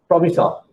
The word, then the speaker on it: promisor: Promisor. That means PROMISSOR. Right? In other words, the correct pronunciation of that is promisor.